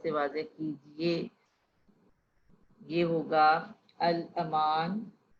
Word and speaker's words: الامان: واضح کیجیے۔ یہ ہوگا الامان، ال، الف زبر، لام ساکن، الف کے اوپر زبر، میم کے اوپر زبر، الاما نون ساکن۔ مراجعت، شیر خوار، میں